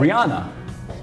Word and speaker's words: Rihanna: comment section, it is Rihanna. Let's roll the tape. How do you say it? Rihanna. Rihanna's correct. But technically, it is. I say Rihanna. I also know that it's Rihanna.